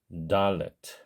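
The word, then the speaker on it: דלת: 그래서 디귿을 쓰면은 달레트 이런 소리로 발음을 하게 되지만 유성음으로 발음을 하게 되면 달레트 이런 식으로 발음을 하게 됩니다. 우리야 당연히 한국 사람이니까 편의상 디귿을 쓸 수는 있지만 본래 발음이 유성음이기 때문에 영문자 D에 더 가깝다고 생각하시는 것이 좋겠습니다.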